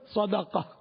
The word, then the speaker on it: صدقہ: اور دوسرا ہے صدقہ دال پر ہے زبر. تو یہاں جب خیرات کے معنی میں تو صدقہ اصل تلفظ ہے صدقہ. تو صدقہ یعنی صدقہ, ہمارے یہاں تو صدقہ دال کو ساکن نہیں پڑھتے.